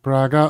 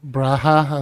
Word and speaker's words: Braga: Here's my hair saying Braga or Braha as I'm reliably told it's pronounced.